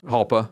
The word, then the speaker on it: Jalpa: no I forget that jalpa or halpa yeah halpa one of those halpa jpa one of the small ones jpa but the Jay is silent I know even though it's Italian not Spanish but I get I get